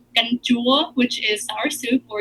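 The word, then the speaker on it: canh chua: Oh, it's called ganjua, which is sour soup, or you can put. Usually, you'll find ganjua tam ga, which is fish and shrimp.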